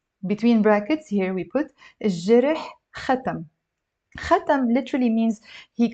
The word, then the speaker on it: الجرح: You see, I'm not pronouncing it الجرح, I'm just saying الجرح, although jim is considered to be a moon letter, but kind of in the dialect especially we end up pronouncing it as if it's a sun letter.